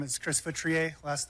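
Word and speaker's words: Futrier: Hi, my name is Chris Futriier. last name is spelled F as in Frank, EU, T is in Tom, R I E R.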